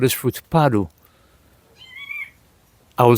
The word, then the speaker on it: padu: in this country, it is called this fruit padu. I will spell it because it's a weird pronunciation, it's a weird spelling, so I will spell it in the way that I could spell it. P-A-D-U, padu, but it's a different spelling, but it's